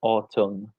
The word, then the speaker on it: autumn: a um and so autumn exactly and how do you pronounce that Carl autumn are there any silent letters the well the N at the very end is is silence so we don't say